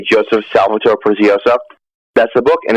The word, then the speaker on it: Prezioso: And it's pronounced Joseph Prezioso.